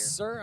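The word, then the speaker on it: Cyr: Dershaw other than Aiden Sear. Yes, sir. I mean, he has not, Sir, my bad. Whatever you pronounce it as. I believe it's sir. Okay. C-Y-R. Sir.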